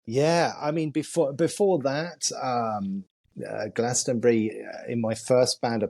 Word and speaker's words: Glastonbury: Am I pronouncing it right? Glastonbury, am I right? Glastonbury, yeah, very much.